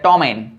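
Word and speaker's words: ptomaine: Pneumatic, शाम, और हम कह सकते हैं टोमेन, PTOMAIN, टोमेन।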